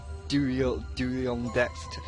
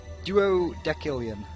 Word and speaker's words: duodecillion: There's got to be one after 12 duodextillion. I can't even pronounce that. Duodextillion? Because it's got no X. Duodecillion.